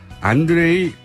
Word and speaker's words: 안드레이: 지금 이 상황을 이분은 어떻게 보실지 러시아 출신 북한 전문가 국민대학교 안드레이 란코프 교수님 스튜디오에 직접 모셨습니다. 안녕하세요. 네, 안녕하십니까. 제가 발음을 잘했습니까? 안드레이.